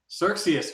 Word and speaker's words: Xerxes: Xerxes, like a circus of Xerxes.